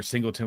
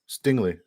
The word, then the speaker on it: Stingley: He's a traveling corner, or Singleton, whatever his name is. Who? Singleton or Singer, whatever his name is. No, Stingley. Sorry, I said it wrong.